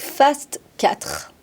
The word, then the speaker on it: FAST4: Nous allons aller maintenant du côté médical avec Fast 4. Je l'ai bien prononcé.